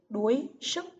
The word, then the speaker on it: đuối sức: Từ thứ ba là từ đuối sức. Các em chú ý vần uôi trong tiếng đuối. Đuối sức.